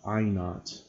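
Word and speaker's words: I₀: To measure it with this unit, we first assign an intensity of I naught. I to the 0 power is pronounced I naught to a very faint sound called the threshold sound.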